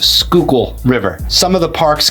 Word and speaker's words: Schuylkill: in the Schuylkill River and yes it is pronounced Schuylkill River some of the parks connect to the